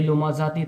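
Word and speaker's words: لمزة: यह लुमाजाती था। लेकिन जब आयत लग गई ता को हजफ कर दिया गया। आयत लगाते वक्त हा की आवाज निकलेगी। ता को हज़फ करेंगे। यानी ता साइलेंट रहेगा।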